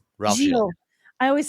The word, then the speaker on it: Gilles: I always say Ralph's last name wrong. Giles. Ralph. Gilles.